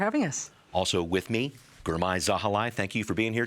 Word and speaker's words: Girmay Zahilay: Also with me, Girmay Zahilay, thank you for being here too. Thank you for pronouncing it right.